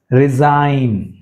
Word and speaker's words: resign: Resign, resign, so G silent.